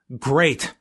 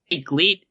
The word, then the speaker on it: GLEAT: so if you see it and you say gleat it's it's not great it's it's great it's a little confusing i don't know if